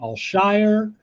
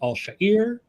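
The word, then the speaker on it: Al-Shaair: that really annoys me which is that he pronounces his name allshire which is ridiculous it's Arabic it's pronounced all shahir dude dude Live and Let Live what are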